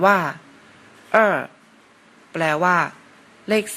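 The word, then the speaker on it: 二: เลข 2 เลข 2 ใน ภาษา จีน อ่าน ว่า เอ เลข 2 ภาษา จีน อ่าน ว่า เอ เรา มา ลอง เขียน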